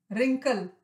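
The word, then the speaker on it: wrinkle: इसमें और साइलेंट है रिंकल सिलवटें पड़ जाती है उनको रिंकल कहते हैं अब देखिए इसमें भी डब्लू जो है वह साइलेंट है तो फिर ए लेसन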